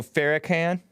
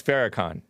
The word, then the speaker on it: Farrakhan: You know, Farrakhan? That's how Jesse Lee Peterson pronounces it. I learned it as Farrakhan, right? Or Farrakhan, or whatever.